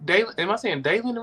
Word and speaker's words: Daylen: No, it's just I mean, am I saying Daylen right? Is it Daylen? Am I saying that right? Yes, Daylen. Yeah, Daylen. Yeah.